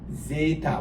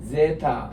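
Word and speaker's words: ζῆτα: 요거는 Z가 들어가는 제타, 요거는 에타, 에가 깁니다.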